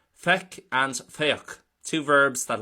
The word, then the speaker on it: Feic: Well, firstly, Feic for C is pronounced as so, Feic, and it is an irregular verb, so we can't really base too much off the root.